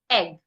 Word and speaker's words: egg: The next word I'm going to skip has and let's just go to egg. The word egg, according to the transcription, no two dots. It means it's a short vowel.